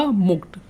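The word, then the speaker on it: mulct: इसको आप कैसे पढ़ेंगे, यहाँ पर जो एल है ना उसको आप साइलेंट को कर दीजिए, खा जाइए बीच में से। ये वर्ड है आपका मुक्त।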